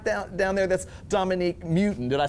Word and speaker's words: Mewton: And at the bottom right down there, that's Dominique Mewton.